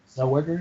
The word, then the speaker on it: Zellweger: So I know Renee Zellweger. Did I say it right? Zellweger, yeah.